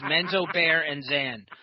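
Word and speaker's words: Menzoberranzan: That's all you have to do. It's Menzo, Bear, and Zan. That's how you say it.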